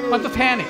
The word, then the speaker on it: pantothenic: Oh, na-pronounce ko! Pantothenic.